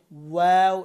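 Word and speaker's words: و: তারপর হচ্ছে ওয়াও, এটাও দুই ঠোঁট থেকে, কিন্তু এটার উচ্চারণের ভঙ্গিমা হবে ঠোঁট প্রথমে গোল থাকবে, তারপরে মিলবে, তারপরে আবার জায়গায় চলে আসবে। ওয়াও, আবার বলেন ওয়াও।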